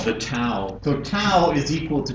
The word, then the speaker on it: tau: called the towel so tau is equal to 2 pi tau is just another Greek letter which i think is actually pronounced tough but it's we would